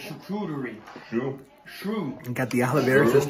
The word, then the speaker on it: charcuterie: That's not how you pronounce it. It's charcuterie.